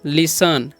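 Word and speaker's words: listen: क्या पेंगे रीड ऐसे लिस्टन नहीं पढ़ना आपको क्या पढ़ना है इसे लिसन ओके टी साइलेंट है और एच ई ए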